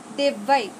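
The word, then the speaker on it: দেব্যৈ: লক্ষ্মী দিব্যই নমঃ, দুর্গা দিব্যই নমঃ। এটা আসলে দিব্যই না, আর এটার উচ্চারণ হবে দেববাই, দেববাই।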